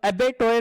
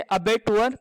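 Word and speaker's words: abattoir: अबेटुअर, अबेटोयर नहीं पढ़ना, इसे अबेटुअर पढ़ते हैं।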